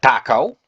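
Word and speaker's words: THAC0: these stats called uh we always call that taco d h a c0 in which we pronounce the zero as no uh Taco means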